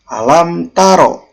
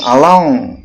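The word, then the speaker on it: أَلَمْ تَرَ: Nah, contohnya alam taro. Nah, dibacanya jelas, alam taro. Setiap hurufnya dibaca jelas. Mimnya dibaca jelas, taknya dibaca jelas. Jangan dibuat mendengung, jangan alang, tapi dibaca alam.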